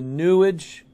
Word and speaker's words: New Age: i've read concerning the newage movement new age rhymes with sewage out of the new